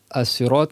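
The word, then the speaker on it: السراط: Et As-sirat en arabe, à la base, tu le prononces avec un sin, pas avec un sad.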